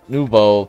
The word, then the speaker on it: nouveau: That's nouveau. Make the O sound at the end.